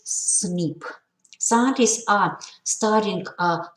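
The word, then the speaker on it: SNP: single nucleotide polymorphism or cnp pronounces snip scientists are studying uh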